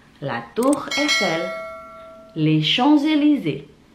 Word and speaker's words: Champs-Élysées: Itulah 10 tempat di kota Paris dan bagaimana cara bacanya. Saya ulangi satu-satu ya. La Tour Eiffel, la Tour Eiffel, la Tour Eiffel, les Champs-Élysées, les Champs-Élysées, les Champs-Élysées, l'Arc de Triomphe, l'Arc de Triomphe, Notre-Dame, Notre-Dame,